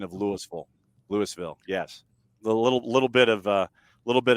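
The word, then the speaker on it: Louisville: golf in well and Lewisville is actually the pronunciation for the town in Jefferson County in the state of Georgia that was one of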